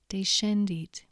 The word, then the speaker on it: descendit: SC is pronounced as the SK in school, unless it's followed by E or I when it's pronounced sh, for example, scola, but descendit.